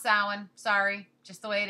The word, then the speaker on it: Samhain: for those of you who don't know it's pronounced salad even though it is spelled s a.m. h AI n that's pronounced salad sorry just the way it is I know